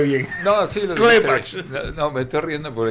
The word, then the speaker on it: Klepach: Sé que te ríes porque no lo pronuncié bien. No, sí, Klepach.